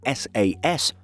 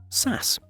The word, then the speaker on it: SAS: Through this whole completely non-serious adventure, we also discovered that while we call the carrier known as Scandinavian Airlines System SAS, some people, reportedly many Scandinavians, refer to it as SAS.